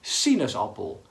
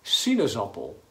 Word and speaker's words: sinaasappel: het woord appel en heeft vier lettergrepen, vier klanken en de klemtoon, het stukje wat opvalt in het woord, is op si. Want je zegt sinaasappel. Niet bijvoorbeeld sinaasappel, nee, sinaasappel.